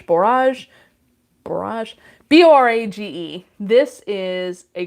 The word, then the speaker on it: borage: a lot about and i think i mispronounced it every time but barrage borage barrage b-o-r-a-g-e this is